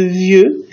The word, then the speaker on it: vieux: c'est un déc syllabe on ne prononce pas le E de vieux car il est entre deux voyelles